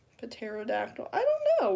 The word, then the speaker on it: pterodactyl: Pterodactyl. I don't know. Why is it spelled with a P? They could literally just remove the P and it'd be fine. Cuz we just say it like pterodactyl.